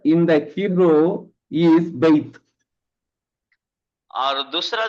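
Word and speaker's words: בַּיִת: What is the pronunciation, sir? Yes, Beit.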